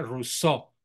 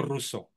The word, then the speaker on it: Rousseau: escribió José Luis rouseau se pronuncia rousseau en francés Con acentuación prosódico en la última sílaba rous no ruso rous caco rousseau ideólogo